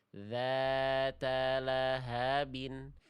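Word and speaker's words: ذات لهب: Suaranya mengalir tidak tertahan. Bukan seperti ini. Da da da. Tapi dza dza dza. Dzata lahabin dzata lahabin.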